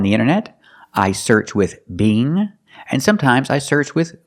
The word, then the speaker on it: Bing: So it's bing. The long E, B, Together, Bing.